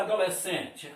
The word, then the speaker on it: adolescente: Ah, como é que a gente fala adolescente? A pronúncia. A, dó, lé, si. Vamos pegar o E. Cadê o E? Está aqui. E, ti, ti. É assim que a gente fala adolescente.